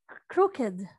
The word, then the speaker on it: crooked: do you say this how many syllables is this word two crooked right so crooked which is stress crew or ed croquette with croquet yeah okay crooked and then ed is not accented what about hands how